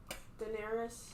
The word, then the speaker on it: Daenerys: Daenerys.